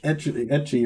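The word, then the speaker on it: ecchi: Like I was talking about a high school anime where like it's all harem and like etchy or eki or however you want to pronounce it.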